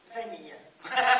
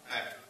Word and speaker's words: vanille: Vanille. Si, voilà. Oui. You're learning French tonight, you're learning French. Donc, si vous regardez bien les personnages... Vanilla? No. Vanille.